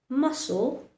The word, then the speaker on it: muscle: He remains silent when it is following the letter S, like in words muscle, seen, fascinate, C is following the letter S, and so it likes to remain silent. Yes, so every time you pronounce these words, remember to keep the letter C silent. Muscle, seen, fascinate. Only pronounce the S, not the C.